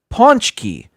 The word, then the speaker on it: Pączki: He spoke with a Polish accent, and they had him speak about punchki. And he said, with his Polish accent, it's actually pronounced Pączki.